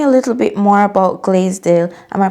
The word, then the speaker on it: Glaisdale: Um, so tell me a little bit more about Glazedale. Am I pronouncing that correctly?